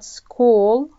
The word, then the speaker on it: school: school عندنا حرف السي والإتش أساسا تنطق تشا، تاء وشين تشا، لكن في كلمة school راح ننطقها ك.